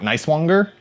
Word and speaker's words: Nicewanger: Oh, it's from Aaron, and I think Nicewanger. That's how you pronounce the last name.